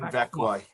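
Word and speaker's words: Växjö: How do you pronounce it? Vecchia? It's in Vecchia. Yeah, Vecchia.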